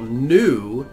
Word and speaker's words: nu: So we kind of have to remember that this letter that we call nu corresponds to our letter N.